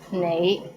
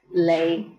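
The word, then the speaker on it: 你: is the word you the right way to pronounce it is nai but in hong kong many people pronounce it as lei how was it pretty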